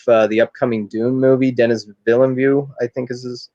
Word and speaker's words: Villeneuve: And the director of the upcoming Dune movie, Denis Villeneuve, I think is how you say his name.